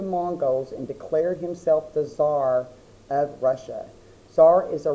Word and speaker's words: Tsar: we're going to put Tsar, and I'm going to go ahead and put a box around that. And it's spelled kind of funny. You don't say the C.